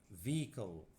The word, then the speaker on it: vehicle: معرض أو عرض exhibition قبة سماوية planetarium مركبة vehicle ال H silent vehicle مصدر source المحطة الفضائية